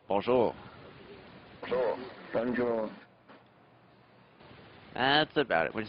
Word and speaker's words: Bonjour: Trying to put the accent on the or at the end. Bonjour.